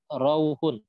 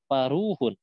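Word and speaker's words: فروح: Nah, ini dibacanya bukan Pak Rauhun, tapi dibacanya Paruhun.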